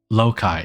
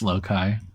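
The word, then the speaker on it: loci: Loai How do you pronounce this? I know it's plural of locust. Lokai. Okay, it is pronounced Lokai.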